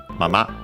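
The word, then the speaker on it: まま: Technically a noun, accented on the on the last syllable, mama, and it means as it is, remaining, keeping, living.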